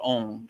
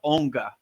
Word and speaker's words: Aung: is Om and the crown chakra is Om. So right. But it's spelled Aung. And when I was in the Himalayan mountains, I used to call it Onga, right?